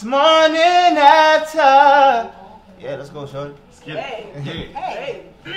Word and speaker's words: Morninafta: So start off with saying, it's Morninafta. You can follow me everywhere. I'm on Apple Music, iTunes, Twitter. It's spelled differently though.